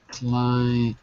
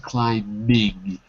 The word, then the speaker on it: climbing: It's spelled with the B, but we don't say the B. So it's rock climbing, but we take out the B and we say rock climbing.